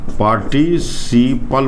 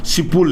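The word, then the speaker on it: participle: ध्यान रखिएगा, पार्टिसिपल, इसका प्रोनाउंसिएशन होगा भाई, जो कमजोर है बहुत, पार्टिसिपल बोलेंगे, इसको सिपुल नहीं बोलिएगा, पास्ट पार्टिसिपल, पास्ट पार्टिसिपल।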